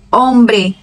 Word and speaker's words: hombre: Mas ela não tem som nenhum nas palavras. Onde ela aparecer, o som vai ser mudo. Hola, helado, hijo, hacer, huracán, héroe, hombre.